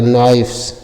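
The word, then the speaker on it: knives: के को साइलेंट कर दिया जाएगा। एन आई है तो नाई हो जाएगा और वी ई एस है तो वह हो जाएगा और से हो जाएगा नाइफ्स नाइफ्स नाइफ्स मीन्स क्या होता है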